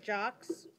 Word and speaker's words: Jaques: Reedy I'm sorry okay is your name mr. Jaques yes well that's how you say it all right all right